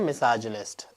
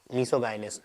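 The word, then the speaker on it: misogynist: अब जैसे एक वर्ड होता है मिसाजिनिस्ट, ठीक है, इसको हम प्रोनाउंस करते हैं मिसाजिनिस्ट, मिसोगाइनिस्ट नहीं, राइट।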